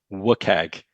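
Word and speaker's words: WCAG: It's pronounced as WIKAG.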